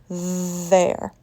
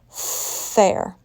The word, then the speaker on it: there: I am going over there. Voiced. What would it sound like if I pronounced there with a voiceless sound? Fair. Fair. Not quite. Make sure you're pronouncing voiced TH there.